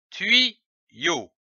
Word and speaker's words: tuyau: L'association de ces deux syllabes donne le mot tuyau, comme un tuyau.